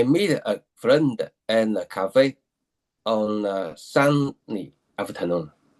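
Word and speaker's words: café: So in English you say K for something, but in that's you say cafe because it's French, right?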